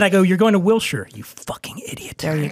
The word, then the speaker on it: Wilshire: They'll say, oh, we're going to Wilshire Boulevard. Yeah, it's spelled that way. Later. So here's how I correct. I don't tell them that they're stupid. I just go, oh, you're going to Wilshire.